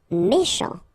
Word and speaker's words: méchant: Méchant. Final T not pronounced. CH together, sh. Méchant, méchant.